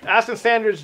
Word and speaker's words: Ashton Sanders: So it's Aston Sanders, Jeffrey Wright, both phenomenal actors, and yourself a phenomenal actress and a host of other people.